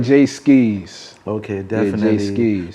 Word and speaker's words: Jae Skeese: Like, how you pronounce it? Jae Skeese or Jae Skeese? You put that little skis on it. Yeah, it's like Jae Skeese.